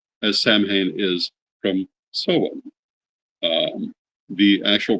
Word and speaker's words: Samhain: is the pronunciation of the word Samhain.